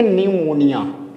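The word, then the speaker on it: pneumonia: इसको पढ़ेंगे निमोनिया। ये बीमारी है। ठीक है? इसको क्या पढ़ेंगे? निमोनिया। यहां पे हम पी को साइलेंट बनाएंगे। प्रोनाउंसिएट नहीं करेंगे।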